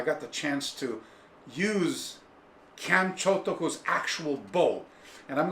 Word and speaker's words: Kyan: History of Okinawa Karate, Chanmi. So, Chanmi, as you know, Chan is how you, in Okinawan, Uchinaguchi is how you say the word Kyan. So they say Kyan.